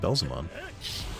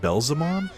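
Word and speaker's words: Beelzemon: i finally used belzomon why'd i call it belzomon actually that's a good point they pronounce it belzamon and this isn't it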